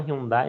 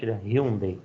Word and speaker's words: Hyundai: A gente chama Hyundai, né? Mas a pronúncia, né, pelo menos lá, é Hyundai, né?